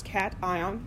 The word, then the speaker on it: cation: And it's cation, not cation, which I guess could be short for vacation, but no, it's cation and anion. Anion sounds like a mispronounced onion, so I'm not going to use those mispronunciations.